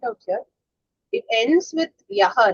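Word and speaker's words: यः: When it ends as Yaha, Visarga, if we say Yah, the matra count will change. It should be told as Yaha. Then it is correct.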